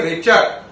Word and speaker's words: Richter: इस लॉ को देने वाले थे रिचर।